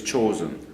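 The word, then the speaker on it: Chosin: That's the Japanese pronunciation of Jangjin Lake is chosen.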